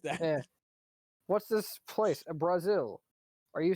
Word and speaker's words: Basil: Brazil. Are you saying that this incredibly technologically advanced place that's actually like doing well is called Brazil? Yes. Bullshit. okay, it's spelled Basil.